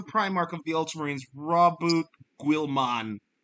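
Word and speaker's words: Guilliman: of the ultramarines roboot Gilman that's how guilman is how you pronounce his last name I don't know how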